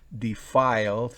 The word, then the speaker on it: defile: la rayita subddi file defiles fíjense que encima de la y después de la f hay una rayita entonces será defile significa manchar o corromper